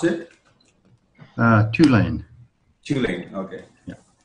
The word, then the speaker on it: Tulane: And you pronounce it? Tulane.